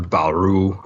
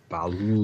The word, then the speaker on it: Ba'ul: Tell him, Dave. Ba'ul. Ba'ul. Like Gua'ul, but Ba'ul.